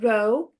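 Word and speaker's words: ρ: And let us call rho of x, this letter here is pronounced rho.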